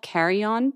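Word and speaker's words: car.eon: raise a wand to the line it's called carry-on but let me spell it for you c-a-r-dot e dot o n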